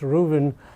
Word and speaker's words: Ruthven: malice rooven it's written ruthven but it's actually pronounced ruben in the new york review books so we've